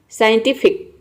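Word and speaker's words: scientific: Next यहाँ पे देखिए, साइंटिफिक। साइंटिफिक में भी देखिए एस सी के बाद आई आ रहा है।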